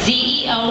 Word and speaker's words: ZEO: Zo concept and yes it is spelled exactly as it sounds Zeo which stands for zero